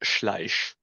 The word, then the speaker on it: Schleich: My entire life, no one has been able to pronounce my surname, which is correctly pronounced Schleich. It's a very Schleich. Yeah, exactly. It's a German surname.